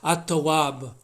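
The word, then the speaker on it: التواب: The word tawab has in front of it AT instead of AL. This is the nature of Arabic grammar, that some words the L gets absorbed and eclipsed into the next letter. So it's at-tawab is how you say it.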